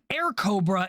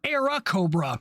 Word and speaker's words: Airacobra: Also, a fun fact, the Soviets usually mispronounced or miswrote the aircraft's name as Air Cobra instead of Era Cobra.